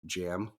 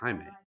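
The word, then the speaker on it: Jaime: it was so annoying because the guy kept pronouncing it as like jam not even Jamie he was like jam Rees I was like no it's Hae H can hear yeah it's it's it's really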